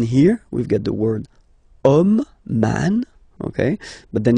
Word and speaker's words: homme: And then here we've got the word homme, man, okay, but then it starts with H, as in French, H is not pronounced, so the first sound that we hear is O, okay, and then it will follow the same rule.